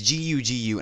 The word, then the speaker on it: Gugu: name is i think i think her name is gugu it's g-u-g-u and i don't want to pronounce wrong but i'm pretty sure it's pronounced gugu um the the guard